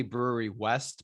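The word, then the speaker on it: Brouwerij West: rather simple it's basically brewery west but it's spelled um the dutch way i believe it's a native dutch word so it's b-r-o-u-w-e-r-i-j so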